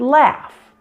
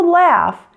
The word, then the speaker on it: laugh: The same happens with the F sound, like the word laugh. Now, although laugh is spelled with a GH at the end, it's pronounced F.